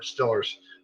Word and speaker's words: Steelers: He spelled it correctly, Stillers. That's how you pronounce it down there, Stillers. Steelers, yep.